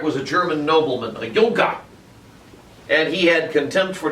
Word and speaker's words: Junker: And Otto von Bismarck was a Prussian Junker, spelled like junker literally, which is the German term for nobleman. But I like saying Junker better because it just sounds more awesome than nobleman.